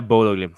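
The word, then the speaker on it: Bodø/Glimt: Yeah, Bodo Glimt.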